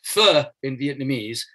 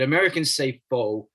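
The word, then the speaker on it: phở: love to eat what looks like it's pronounced as pho, P-H-O. It's pho in Vietnamese, but Americans say pho, which is a pun, of course, on the word foe, enemy.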